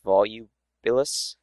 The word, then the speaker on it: Volubilis: For example, that over there is Volubilis, if you pronounce it correctly.